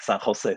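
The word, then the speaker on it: San José: digital media arts from San Jose State University probably you you pronounce San Jose very differently than me but San Jose in Spanish sounds like San Jose sorry okay Daniel social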